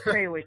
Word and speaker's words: Krawiec: your last name wrong cow is that pretty darn close there it's cwick it's it's a tough